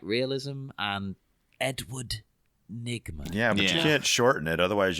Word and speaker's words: Nygma: they were ni GMA so it's like you can't miss the e nygma part of it yeah and it was